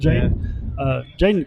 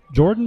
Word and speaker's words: Jaden: I think we called his name wrong. We call him Jordan McCants. You were calling him Jordan a little bit last week. Yeah, I apologize for that. It's Jaden McCants.